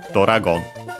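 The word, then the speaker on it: ドラゴン: And so yeah, we add O instead of the usual U, sometimes E. But yeah, because both of those would change the sound of the consonant. So yeah, we add Do, O to make Do, Doragon.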